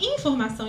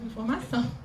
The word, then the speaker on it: informação: E é engraçado que, às vezes, alguns jornalistas até fazem uma entonação errada. Falam assim, vou dar uma informação importante. Né? E aí a gente tem que ir adequando. Né? A informação não é assim, a sílaba tônica é o som, né? Informação.